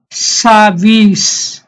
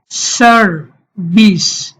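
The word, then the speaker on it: service: প্রথম সিলেবলের শেষে আর আছে, আর সাইলেন্ট থাকবে, তাহলে ব্রিটিশরা বলবে সার্ভিস, সার্ভিস। আর আমেরিকানরা বলে সার্ভিস।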